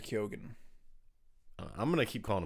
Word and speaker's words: Keoghan: Kogan. Does he say Kogan? Well, I was watching an interview, and Jacob Elordi said Barry Keoghan.